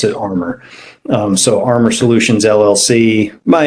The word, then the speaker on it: ARMR: We just pronounce it ARMR.